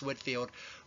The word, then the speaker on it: Whitefield: One of the more famous of the traveling New Lights was George Whitefield. It looks like it's pronounced Whitefield, but it's actually pronounced Whitefield.